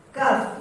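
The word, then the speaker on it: ك: Ingat, kaf itu ada 2 sifat yang sebenarnya bertolak belakang. Sifat tertahan dan sifat mengalir. Sifat tertahan dan sifat mengalir yang bertolak belakang di kaf.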